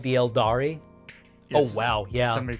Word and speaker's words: Eldar: The Eldari. Eldari, yeah. The I is silent. It's pronounced Eldar, but it's spelled trademarkably.